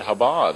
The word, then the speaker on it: Chabad: And you said Chabad, and so the C is not pronounced there.